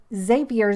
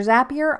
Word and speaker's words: Zapier: i like saying ifta and then xavier zapier i call it that because the little things they call them zaps but to me the word looks like zapier so i don't know i say both but i have made